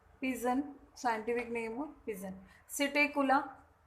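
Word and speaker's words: Psittacula: सिटेकुला, P silent है, सिटेकुला parrot.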